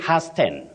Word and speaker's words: hasten: yes you don't say hasten hen no you say Hast H the t is silent don't pronounce that word